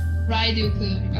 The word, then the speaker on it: Ryuudou: it shows up next time as it's being pronounced in the Japanese lines. So yeah, okay. Ryuudou-kun.